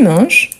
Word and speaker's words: manges: mange tu mangees tu manges n'oubliez pas tu on écrit toujours avec S ah mais on ne le prononce pas non on ne le